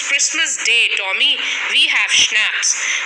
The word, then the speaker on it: schnapps: We have schnapps. Now, SCHNAPPS. It's pronounced as schnapps. It's a German drink made from grain.